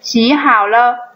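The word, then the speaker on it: 洗好了: Khi hai thanh điệu thứ ba kết hợp với nhau, thanh điệu thứ nhất chuyển thành thanh điệu thứ hai, vì vậy nó được đọc là xi hao le, có nghĩa là giặt xong.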